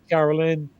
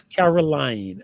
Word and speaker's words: Caroline: And a pleasure, Carolyn, Did I pronounce that correctly, or is it Caroline? Caroline. It's Caroline.